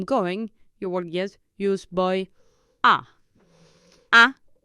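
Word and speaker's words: voy a: boy a I'm going though it is spelled in two words but in in the spoken language you contract the boy to bo bo you make practically one word yes in speaking bo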